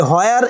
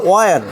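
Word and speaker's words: where: আমরা বলি হোয়ার, ইংরেজরা বলে ওয়ার।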